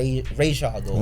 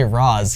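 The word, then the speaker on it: Ra's: it correctly you know I always go by ra I used to say RZ because they said that and Batman Begins and I thought that was how you pronounced it for so long and then I heard them say R shle in the Animated Series I'm like that's correct well last question so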